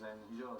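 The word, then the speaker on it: Eriksson: its first foreign coach please ofy on the pronunciation of your name well in Swedish it's erenor and erenor and Erikson is in fact the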